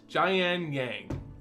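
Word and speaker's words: Jiang Yanggu: all right next up we have gian yang i believe that's his name and how it's pronounced jayan yang so this is one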